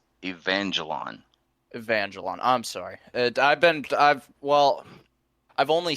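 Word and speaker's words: Evangelion: You are just about as bad as my son pronouncing that. But at least you got it closer to the actual name. Neon Genesis Evangelon.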